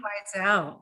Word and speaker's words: Wiesel: Do you guys know how to pronounce that person's name? Wiesel, yes.